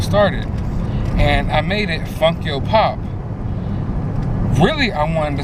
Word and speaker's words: Funko: didn't know and it's some people freaking mispronounce that call it funky Oh pop no that's not the name of the Instagram it is Funko pop basically when I created